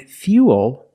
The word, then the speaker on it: fuel: But remember, with fuel, we have the same spelling pattern, but the pronunciation is a little different. We put that y sound in there.